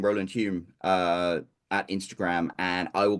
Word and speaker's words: Hulme: But Roland Hume. Hume. I got it right. Yes, First you time. did. Yeah, Absolutely. My Roland. wife pronounces it Hulme because she pronounces the L.